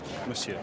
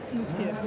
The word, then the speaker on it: Monsieur: Monsieur, not so much of the N. Monsieur. Monsieur.